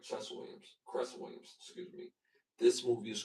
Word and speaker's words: Cress Williams: Glenn Sherman, Clarence Williams III, Michael Ralph, and Chess Williams. This movie is called Cress. I said it right. Chess Williams. Cress Williams.